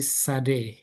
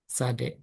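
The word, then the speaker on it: צדי: Ini Sade. Ada yang bilang Sade, nggak apa-apa lah. Sade, Sade, Sade. Sa, nanti bacanya sa ini. Campuran antara T sama S ya, sa.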